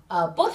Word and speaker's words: post: nói là post bài, post hình. Nhưng cái từ này không được phát âm như vậy các bạn chú ý nhé. Mình phát âm chuẩn là post.